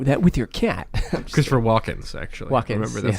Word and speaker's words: Walken: Christopher Walken's actually. Walken. Remember that's how you pronounce yes.